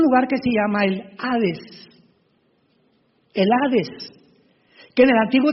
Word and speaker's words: hades: Esta versión del griego, del hebreo al griego, se tradujo la palabra seol con hades, con h que muchos dicen jades. Se puede pronunciar así porque es en el griego.